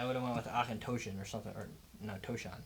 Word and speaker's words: Auchentoshan: Auchentoshan.